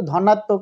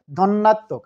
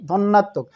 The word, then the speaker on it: ধন্যাত্মক: ধন্যাত্মক দ্বিত্ব উচ্চারণটা কিন্তু ধনাত্মক নয়, ধন্যাত্মক। আরেকবার বলি, ধন্যাত্মক।